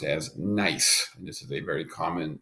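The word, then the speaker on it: gneiss: rocks and stone and then this one here pronounced as nice this is a very common metamorphic rock so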